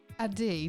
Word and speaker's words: Adee: Is it Adee? Do you pronounce it like that?